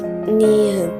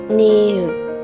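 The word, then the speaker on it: 니은: Se pronuncia como una N en el español.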